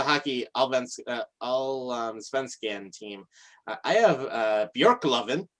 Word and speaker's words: Björklöven: I have Björklöven. It's actually like pronounced that. Björklöven.